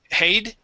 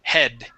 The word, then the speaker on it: head: nice okay let's practice the short e sound with the word head instead of um hade okay it is head okay one more time